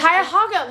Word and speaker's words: Cuyahoga: Cuyahoga, like a pig.